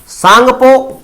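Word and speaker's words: Tsangpo: कहां पर बांग्लादेश में सांगपो तिब्बत में कहते हैं किसको ब्रह्मपुत्र को तिब्बत में ब्रह्मपुत्र को कहते हैं एक्चुअल में ये टी साइलेंट है इससे पहले इस तरीके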